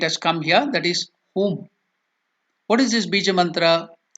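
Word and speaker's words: हुं: So when we write the mantra as HUM, whom, you can also think as HUM, hum. So that's why I have written the spelling as HOOM, the correct pronunciation. It's very difficult to bring out the Sanskrit pronunciation, the Hindi pronunciation, or any Indian language pronunciation in English, because English has its own lacunae. So here the correct pronunciation is HOOM, whom.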